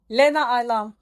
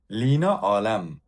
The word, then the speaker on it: Leena Alam: Lena Alem. Lina Alem. Yine yanlış Lina telaffuz. Alem. Lina Alem. Evet. Yine yanlış telaffuzdan gittim.